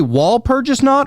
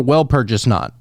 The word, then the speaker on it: Walpurgisnacht: well, do you say wall purchase knot or well purchase knot? I think you're supposed to pronounce the W like a V, you know, purges not, but I think that's just kind of, you know, doesn't matter.